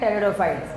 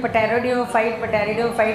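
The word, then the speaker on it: pteridophytes: टेरिडोफाइट्स में P silent है, तो कोई पटेरिडोफाइट नहीं पड़ेगा, सब लोग धीरे धीरे बोलते हैं, हम बोलते यही हैं, तो टेरिडोफाइट ही आपको बोलना है, सम टेरिडोफाइट्स, बट नॉट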